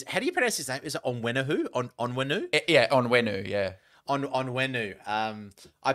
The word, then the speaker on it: Onwenu: and that's Michael ONN is how do you pronounce his name is it onwu on onwenu yeah onwenu yeah on onwenu um I picked him up